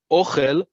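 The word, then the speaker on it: אוֹכֵל: Ochel, ochel, accent on the last syllable is I, you, he eats. Present tense is the verb. Okay, ochel, ochel.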